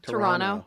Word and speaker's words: Toronto: Nobody in Toronto pronounces the second T. Yeah. What do they say? Toronto. Toronto? Yeah. Oh, yeah. Well, it's that sort of soft D.